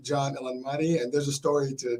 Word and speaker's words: Elanmati: Yeah, John, Elanmati, and there's a story to John, and there's a story why we have Hurricane H here.